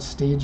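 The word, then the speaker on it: Stagea: ask me how does how to pronounce the word stage yeah that's the way that I'm saying it is the rough way that a Japanese person would and we don't have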